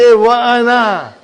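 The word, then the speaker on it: وأنا: I have to pronounce it. No matter where it comes. Even if there is a waw here, I will say Wa'ana. Why? It is Hamzatul Qata.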